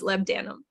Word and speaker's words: labdanum: Just so you know, Ashley, and everyone out there, if you aren't sure how to pronounce that, it's lebdanum.